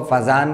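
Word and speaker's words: Fajans: कुछ लोग इसको फजान रूल बोलते हैं, कुछ जो है वो फजान रूल बोलते हैं, कुछ वो फजन रूल बोलते हैं, जो भी आप इसको प्रोनाउंस करें जिस तरह भी। तो एक साइंटिस्ट था 1923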